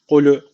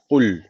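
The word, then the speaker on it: قُلْ: yine yanlış okunmuş oluyor Yani şöyle okunuyor klü klü gibi okunuyor arkadaşlar cezimli lam çok net bir şekilde belli olması lazım kul kul direkt e'de bakın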